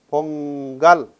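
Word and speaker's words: பொங்கல்: To continue the list, po, ing, ga, il, pongal. You must have known this.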